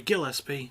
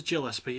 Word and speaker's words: Gillespie: Sorry, Gillespie. I keep forgetting there's pronounced with the hard G, not the soft G, because I'm so used to hearing it as Gillespie.